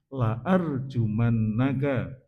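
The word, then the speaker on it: لأرجمنك: Ketika kita membacanya panjang artinya berbalik. La arjumannaka tidak akan merajam saya kepadamu nek lanya panjang. Tapi nek la pendek itu yang betul.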